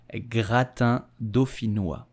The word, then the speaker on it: gratin dauphinois: You will say gratin dauphinois. Gratin dauphinois. In French, P and H give the sound F.